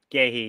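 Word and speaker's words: Guéhi: Um, and obviously Sara Matessa and um, is it don't I'm pronouncing this right. Is it Ghee? Ghee.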